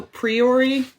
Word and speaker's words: Priori Incantatem: okay so to clarify priory and cantatum am i pronouncing that the way that you guys pronounce it i uh i have a latin background not to brag so i go priory but that sounds better